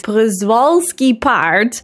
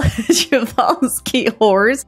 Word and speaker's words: Przewalski: I think what happened is that I just heard the Dutch name in my head. How we pronounce it in the Netherlands is Przewalski paard, and I just converted that to something in English.